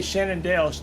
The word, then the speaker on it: Shenandoah: She did say Shenandoah, so she is saying it correctly.